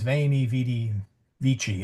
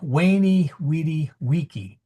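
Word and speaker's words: veni vidi vici: Caesar and I'm going to use his English name would have said wy weedy waky and I'm sorry that sounds really strange to my ears but popes Benedict and uh Leo will say vainy vidvichi.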